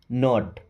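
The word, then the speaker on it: knot: के एन ओ टी, नॉट, क्या पढ़ते हैं नॉट, इसका मतलब होता है गांठ। ओके। के एन डबल ई, नी का मतलब होता है घुटना। इन तीनों वर्ड में के साइलेंट होता है।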